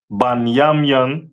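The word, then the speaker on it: בנימין: Um, the tribe of Benjamin is uh the West Indians and is pronounced banyamian in the Hebrew.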